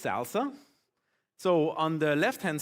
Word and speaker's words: SLSA: It's actually pronounced salsa.